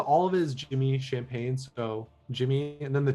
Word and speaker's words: Champane: of it is jimmy champagne so jimmy and then the true it's like the drink is my last name but no g but now so many